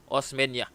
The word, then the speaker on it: Osmeña: narrating a script, but the pronunciation of former President Osmeña, who took over after President Manuel L. Quezon died, is Sergio Osmeña.